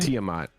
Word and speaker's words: Tiamat: Tiamat, the dragon? Tiamat.